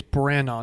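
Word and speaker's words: Branagh: as neil uh kenneth brenna am i pronouncing that right i don't know breno i think it's brannon not brianna brannon it's definitely not that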